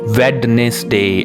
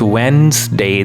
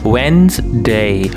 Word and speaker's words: Wednesday: wednesday it's not a wednesday as most of you pronounce it it's wednesday there is no d sound okay wednesday wednesday hey do you